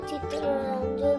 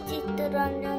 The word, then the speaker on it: চিত্তরঞ্জন: ইসলাম এনার নাম কিবন্ধু চিত্ররঞ্জন দাস চিত্র না চিত্ত প্রত্যেকটা উচ্চারণ ভুল হচ্ছে কিন্তু চিত্তরঞ্জন দাস এনার নাম কি বলুন